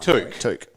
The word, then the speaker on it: Touk: Are we officially going to pronounce his name correctly from now on? Touk. We've been told by the Gold Coast Suns to pronounce it correctly. Have we? Yes. Apologies, Touk. Way more fun when we're talking about a Touk. Like Luke.